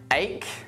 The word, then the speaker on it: ache: Ache, anchor, architect, chaos, charisma, choir, chord, echo, honest, school, stomach.